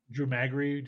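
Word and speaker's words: Drew Magary: defector or was on dead spin you know drew maggie yeah that's how you say it that's how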